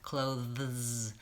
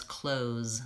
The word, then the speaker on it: clothes: clothes in the closet this has a cluster at the end which is a voiced th and a voiced Z clothes so many Americans will pronounce this just as clothes they leave that th out they say it the same as closed the door close the